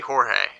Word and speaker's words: Jorge: George. You know how many corrections it took for me to pronounce that Jorge? Well, it's Spanish. Right. You gotta say it like ha.